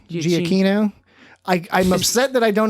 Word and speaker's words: Giacchino: How do you pronounce his name? Giacchino. Giacchino.